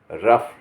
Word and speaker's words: rough: कभी कभी GH के F, फा का उच्चारण भी आता है, जैसे ROUGH, रफ। GH को फा का भी आवाज़ आती है।